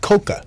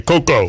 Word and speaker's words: Cocoa: coca Brown is in the build and it's pronounced coca yes cuz a lot of people say Coco yeah but I don't care long as that